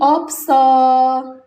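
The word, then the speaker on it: 없어: Berarti dua-duanya diba dibaca, P-nya dibaca, S-nya dibaca. Jadi, pelafalannya menjadi opso.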